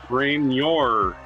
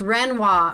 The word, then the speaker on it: Renoir: Renoir's hearts revealed very famous for painting women actually very nice refined paintings of women reor looks like Renoir it's just Renoir Renoir I know I